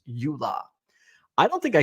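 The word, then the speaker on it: EULA: won't do any shadiness while using company equipment pronounced Ula I don't think I S signed a Ula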